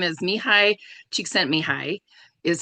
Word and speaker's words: Csikszentmihalyi: the 90s, let me see if I can pronounce his name. I had to write it down. So his name is Mihai Csikszentmihalyi, is how you say his name.